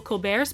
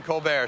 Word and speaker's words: Colbert: pretentious name like Colbert, where you don't pronounce the T.